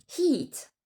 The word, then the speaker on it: heat: Il faut prononcer le H au début des mots.